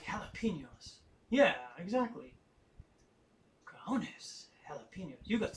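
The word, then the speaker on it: jalapeño: hours all right like jalapenos yeah exactly jalapeno you got some cajones to eat those jalapenos like that exactly it's just like a huff sound instead of a jug sound all right let's see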